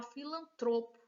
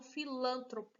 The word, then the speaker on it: filantropo: ah e não pública é o correto é falar filantropo e não filantropo é o correto é